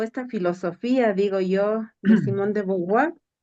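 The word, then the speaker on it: Simone de Beauvoir: Sí, sabes que escuchando todo esta teoría o esta filosofía, digo yo, de Simón de Beauvoir, así se pronuncia, no Ujú.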